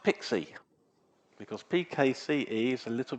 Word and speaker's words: PKCE: Let's start with PKCE, which is pronounced Pixie, because PKCE is a little bit of a mouthful.